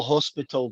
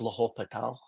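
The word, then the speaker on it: L'Hôpital: you're pronouncing it correct I call it the hospital because it looks like it's the hospital but I've been told by other people that it's la hopital you said you get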